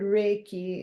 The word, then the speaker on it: Reiki: you know and and the word Reiki is two syllables it's Ray and key so Ray is channeling